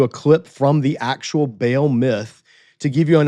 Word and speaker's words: Baal: It's actually Baal. It's actually not Baal. It's Baloo. In Hebrew, it's Baal. In Canaanite Ugaritic, it would be Baloo.